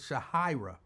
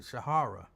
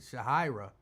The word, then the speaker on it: Shahira: 50 Cent she said my father created my name and he pronounced it Shah hyra but he wasn't around and my mom pronounced it Shahara when I talked to him later in life and he pronounced it Shahira the amount of confusion